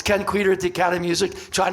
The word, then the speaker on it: Kenn Kweder: Ken quer she goes what's your nobody can pronounce thing can can presser no Ken quer so um she goes back never comes back